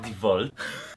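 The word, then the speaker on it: DeWalt: It is pronounced Devolt.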